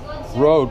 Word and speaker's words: Rode: Is this pronounced Rode or Road? Yeah, Road.